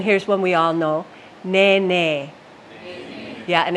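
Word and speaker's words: nēnē: when we all know ne ne yeah and it's not ne ne it's NE NE for our Goose the Hawaiian Goose ne ne all right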